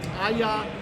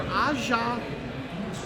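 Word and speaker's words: A'ja: First off was Aya Wilson, who is played at University of South Carolina. It's either Aja or Aya.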